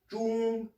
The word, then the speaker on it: 钟: vous expliquer le caractère Zhong, Zhong. Ceux qui ont déjà fait les pays, ça ressemble étrangement à la prononciation du Zhong de Zhongguo, du mot Chine.